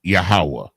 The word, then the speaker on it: Yahweh: They use the word Lord 99% of the time, but 7 times they use Jehovah, which is the English transliteration of Yahweh.